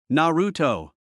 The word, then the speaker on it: Naruto: Naruto.